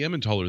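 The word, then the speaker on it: Emmentaler: well so the the ammontoller that you guys are seeing and that's how i pronounce that's probably more of an americanized way of pronouncing it but when you're talking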